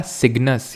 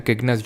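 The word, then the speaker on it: Cygnus: ये है हमारा सिग्नस या फिर किग्नस, जो भी इसको प्रोनाउंस करते हो।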